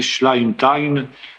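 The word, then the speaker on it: Schleitheim: Cette confession de foi s'appelle confession de foi de je sais pas comment on dit ça en français schlime.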